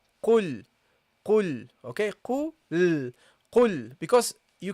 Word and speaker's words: قل: So practically, basically what you have to do is attach the qaf with the lam. Okay, so you say qul.